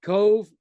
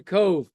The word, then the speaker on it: Cobh: There's Cove and Cork. I went to Cork in 1962. And to Cove, it's pronounced Cove, to do a favor for a friend of mine.